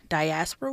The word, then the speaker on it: diaspora: Because sometimes you'll see there's, I want to say diaspora wars or dysphoria.